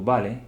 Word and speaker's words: vale: letra u b que a letra V ela sempre vai ter o som de b a gente pode pronunciar assim é um meio termo por exemplo vale Vale fica entre o